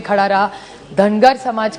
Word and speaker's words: धनगर: एक तो धनगर समाज की बड़ी मांग है कि उनको ट्राइब में धनगर, महाराष्ट्र मराठी में धनगर कहते हैं, नॉर्थ में उसी को धनगढ़ कहते हैं। सो इट is only a pronunciation thing.